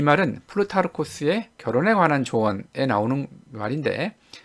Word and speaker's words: 플루타르코스: 이 플루타르코스라는 사람은 우리가 영어식 발음인 그 플루타르크 이렇게 잘 알려져 있는 인물이고, 플루타르코스에게는 이제 가장 많이 알려진 책은 이제 영웅전이죠.